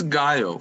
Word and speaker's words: Gaio: Your name is pronounced Gaio? It's Gaio. For Serbs, every letter that you pronounce is without any exaggeration or. Okay. It's like as you write is the same as you speak out my name.